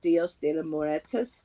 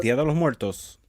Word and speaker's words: Día de los Muertos: I always do, but the Dios de los Muertos. No, Muertos. Dios. Día de los Muertos.